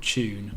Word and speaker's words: Choon: There's like this one called Tune, spelled with CHOON, like shit name, I reckon.